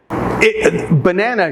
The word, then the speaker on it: banana: easy word banana again banana should sound like ba na na but it doesn't the reason is because of the schwa and unstressed syllables the schwa is simply the sound up the schwa could be made up with any vowel or any combination of vowels in the word banana the first and third syllables have the schwa sound but now know the